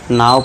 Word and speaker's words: now: अब देखिए जैसे कि एन ओ डब्ल्यू होना पढ़ना चाहिए था। इसे क्या पढ़ना चाहिए था? नो पढ़ना चाहिए था। लेकिन इसे पढ़ते क्या है हम? नाउ पढ़ते हैं।